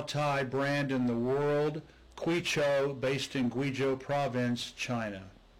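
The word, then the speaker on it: Kweichow: is distilled in guijo the anglicized brand name is cuicho k-w-e-i-c-h-o-u but i'm going to pronounce it guijo when i traveled across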